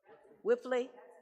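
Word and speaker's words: Wipfli: is check number 113343 how do you pronounce That W I P F L I for audit for financial audits. Whiffley.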